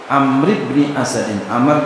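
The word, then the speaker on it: عمرو: Amr bin Asad. Walaupun ada wawunya tetap Amrin. Kenapa? Wawu membedakan bacanya Amr atau Umar.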